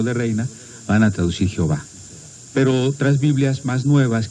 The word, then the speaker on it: Jehová: Y entonces, combinando estos signos vocálicos de Adonai con las consonantes de Yahvé, se forma la palabra Jehová.